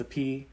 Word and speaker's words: Sophy: There's a lot of other Cambodians with the same, you know, SOPH prefix, like my dad Sapon, SOPHON, and my ex Sapi, SOPHY, and her cousin Sapani, SOPHANNY, and one of my besties, Sapik, SOPHEAK.